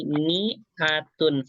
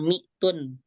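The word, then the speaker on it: مائة: ada alifnya gitu tuh Tapi bacanya Mi gakapa enggak ma gitu di sini Kenapa kok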